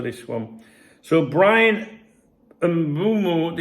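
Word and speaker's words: Mbeumo: So Brian and Bumu, it's the emphasis is on the boo. There's a few of them at Old Trafford these days, isn't there? Um, it's it's the silent M at the start throws people, but it's more like a soft huming into the boo.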